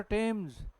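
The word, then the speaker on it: Thames: जिसमें क्या होता है टी एच is pronoun pronounced नहीं नहीं प्रोनाउंसड ट क्या लिखा है तो यह थम नहीं है थम्स अरे नाम सुना होगा लंदन में एक नदी है कौन सी रिवर टेम्स जिस पर बना हुआ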